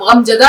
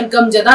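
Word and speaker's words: غمزدہ: गम हो रहा है तो गम कोई लज नहीं है आपको आवाज जो है व हलफ से निकालनी हैम इस तरह से ज की आवाज य जा नहीं है आप गम जदा नहीं कह सकते हैं या गमजदा नहीं कह सकते आप कहेंगे गम जदा और उसको लिखेंगे किस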